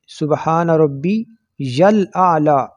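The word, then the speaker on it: سبحان ربي الأعلى: میں سبحان ربی العظیم۔ اس کا تلفظ بھی بعض حضرات جو ہے وہ صحیح نہیں کرتے، سبحان ربی الاعلی، یا کو آگے لام کے ساتھ ملانا ہے، اور سبحان ربی العظیم۔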